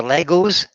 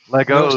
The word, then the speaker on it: Lego: It's Lego or Legos? It's just Lego. There's no S in Lego. It's Lego. Lego is one. Legos not.